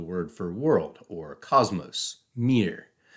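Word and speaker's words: мир: identical to the word for world or Cosmos Mir pronounce Mir works better if you're seeing it on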